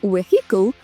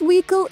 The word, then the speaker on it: vehicle: Літера H тут не вимовляється, тому не vehicle, а we. This vehicle is super fast.